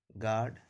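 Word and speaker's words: guard: नहीं करेंगे, इसलिए इसको पढ़ा जाता है गेस, गार्ड, गेस्ट। चूंकि यू का उच्चारण नहीं किया जाता, जी ई एस टी, गेस्ट पढ़ा जाता है।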